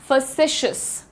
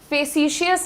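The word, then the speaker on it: facetious: तो ऐसे लोगों को हम कहते हैं फैसिशियस, फेसिशियस नहीं, फैसिशियस। जल्दी से बोलना है, फैसिशियस, मेरे साथ बोलिएगा सब लोग, फैसिशियस। ये जो मैं UH का साउंड लिखती हूं इसका प्रोनाउंसिएशन होता है अ, और इसको कहा जाता है द श्व साउंड।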